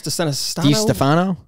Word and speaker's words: DiStefano: Chris DiStefano. Oh, you nailed that. DiStefano. I couldn't do that. Right? I can't do the D's. I'm not good with those. It's DiStefano.